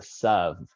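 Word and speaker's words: תָּו: And this actually why we've talked about this before, but in the traditional Ashkenazi pronunciation of thav is a sav, because in Eastern European languages, there is no th sound.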